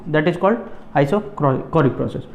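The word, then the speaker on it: isochoric: इसको चौरिक भी बोल सकते हो, आपकी मर्जी है याद करने के लिए कि सर स्पेलिंग याद नहीं हो रही, ठीक है, चौरिक बोल दो, आइसोचोरिक बोल दो, लेकिन कोरिक है।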